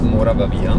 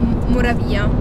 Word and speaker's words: Moravia: romanzo di Moravia, che io sbaglio sempre a Moravavia. Io non so perché dico io Moravia, cioè metto l'accento sbagliato.